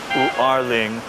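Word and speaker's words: 五二零: 520, when you pronounce it in Mandarin, is U'erling, which they say sounds like I love you or Wa ai ni.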